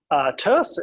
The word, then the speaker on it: tierce: carry or tears tears which I keep pronouncing tears even though I intend to say it as toast as in tertiary is third hand position